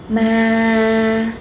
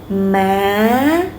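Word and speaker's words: má: Ma. Now rising. Ma. Ma. Okay, go up is like you're making question.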